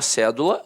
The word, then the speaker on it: cédula: E aí a palavra cédula notoriamente é uma proparoxítona a sílaba tônica está na antepenúltima sílaba aí ele pede para